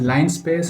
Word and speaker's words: linspace: Yeah, you read it as line space and you'll remember it better.